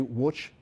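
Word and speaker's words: Łódź: grandmother trying to get to which or as we might pronounce it ludge poland the polls say which uh to join my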